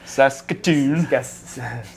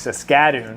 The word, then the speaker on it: Saskatoon: Saskatoon. No, that's how you say that. Okay. I thought it was Saskatoon. You put the wrong emphasis on the wrong syllable.